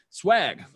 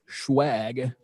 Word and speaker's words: schwag: lunch on b sides swag i'm sorry schwag as it is pronounced properly schwag is available if